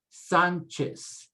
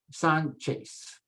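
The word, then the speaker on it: Sánchez: put the stress remember the z is always pronounced s never z sound in spanish so you say hernandez hernandez martinez martinez sanchez and there's your chase sound the c-h-e sanchez let's drop down below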